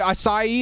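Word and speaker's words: açaí: like those smoothies oh the kai smoothies or whatever acai is how you say it those smoothies as the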